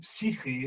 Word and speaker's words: psyche: She said, no, the original Greek for the word psyche, I mean, psyche, that's how you say it in Greek, psyche, means soul.